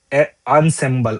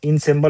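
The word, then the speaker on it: ensemble: सकते that person is indispensable to your group अनसेंबल अब वी सी the pronunciation इसको क्या पढ़ेंगे हम इन सिंबबल नहीं पढ़ेंगे ये अनसिंबल है [नाक से की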